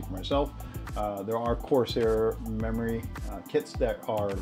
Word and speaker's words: Corsair: say that Corsair that's how you say it Corsair memory um I want to say Conair but